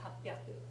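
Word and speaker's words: 八百: Because if you learned this first, you might never remember the alternate pronunciation that occurs here, hapyaku, right? Because all you're looking at is the hachi and the hyaku.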